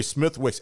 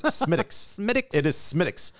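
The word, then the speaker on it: Smithwick's: had smithich's medics and it is spelled smith wicks yes rookie mistake which i did not make do not pre i'd like a smith wicks it's smitics my favorite beer yes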